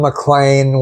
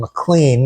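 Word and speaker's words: McLean: And uh that is it rhymes with rain, rhymes with explain. So Don Mlan was correct. She thought it was Don Mlean because that's the way it's spelled.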